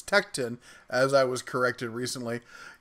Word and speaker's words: Tekton: Tecton tools yeah I gotta make sure I pronounced it right I keep wanting to call it Tecton but it's Tecton as I was corrected recently yeah I've heard